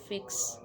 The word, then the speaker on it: FX: ठीक है, एफएक्स के नाम से लोग जानते तो हैं, लेकिन इसको जो है वो प्रोनाउंस किया जाता है फिक्स।